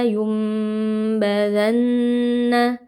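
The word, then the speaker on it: لينبذن: Kalla lumbadanna. Di sini ada nun sukun bertemu dengan huruf ba. Hukumnya adalah iqlab. Cara membacanya nun sukun dibalik atau diganti menjadi mim.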